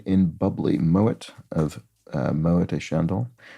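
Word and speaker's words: Moët: Big name in bubbly, Moet of Moet et Chandon. T is pronounced because, I think because it derives from a German name.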